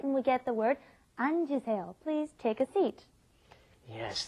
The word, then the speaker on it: 앉으세요: If you just say it when it's up against another consonant, it comes out anta, but then when it comes in front of another vowel, you end up pronouncing the J sound at the end. It comes out 앉으세요.